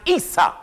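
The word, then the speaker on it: عيسى: a brother named esau in arabic esau is pronounced isa isa in arabic the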